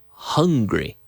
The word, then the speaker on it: hungry: have to go and you blow and you create an H sound so we don't say it we don't say how are you we say how are you right so we all felt very hungry I'm not saying and